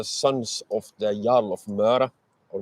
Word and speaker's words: Møre: So he sends the sons of a friend of his, the sons of the Jarl of Møre, or Mær, as it's for some reason translated to in English. Møre is spelled M-Ø-A-E.